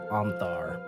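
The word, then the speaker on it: Ontharr: an individual named Anar it's spelled o n t h a r r o n t h a r r Anar okay um that is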